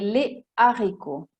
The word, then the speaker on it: les haricots: si dice des héros e les haricots non si collega la S con la H, a differenza di uomo